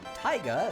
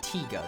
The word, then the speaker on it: Tiga: Yeah, I kind of like the Japanese Ultraman, especially Ultraman Taiga. It's pronounced Tiga, sorry.